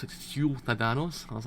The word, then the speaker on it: ciudadanos: You have to pronounce it ciudadanos.